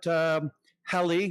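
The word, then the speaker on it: Halley: few pictures um Comet U hel rhymes with Sally um in 1910 there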